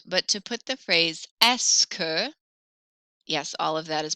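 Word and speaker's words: est-ce que: at the end but to put the phrase esker yes all of that is pronounced escu put esca at the beginning so eske literally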